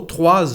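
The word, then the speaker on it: trois: 3 livres, we don't pronounce the letter S, but we pronounce it when we have a vowel. So 3 oranges, like a Z.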